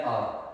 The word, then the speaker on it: hour: Okay, it's been an आवर। अच्छा, ये HOUR हार नहीं बोलते, इसकी प्रोनाउंसिएशन बस यही होती है आर।